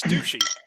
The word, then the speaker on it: Duchy: at the word and she's like no it's pronounced ducky you idiot and i'm like what well now you can tell her that it's douchey you know it's like it's